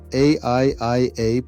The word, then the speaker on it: AIIA: Welcome back to the Artificial Intelligence Institute Africa, AIIA, pronounced Aiia, Ubuntu Guild's videos on AI.